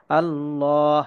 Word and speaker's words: الله: আল্লাহ শব্দের ডানে যখন জবর বা পেশ আসে তখন সেখানে আল্লাহ শব্দের লামটাকে পোর বা মোটা করিয়া পড়তে হয়।